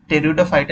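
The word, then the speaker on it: Pteridophyta: है हमारा टेरी फाइट इसमें पी जो है वो साइलेंट होता है तो टेरिडोफाइटा इसका सही है फिर इसको कॉमनली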